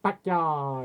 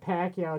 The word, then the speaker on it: Pacquiao: Pacquiao. If I didn't say it right, because my family loved him, I'd be like, oh, no, it's not Pacquiao, it's Pacquiao, because he's Filipino.